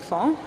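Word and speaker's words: fonds: So a little bit about the fond, which is a funny word. It's pronounced fond, but it's so these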